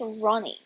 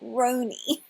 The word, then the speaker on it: Roni: they get called roni i mean it's clearly pronounced ronnie now that they think about it not rony the daughter is ronnie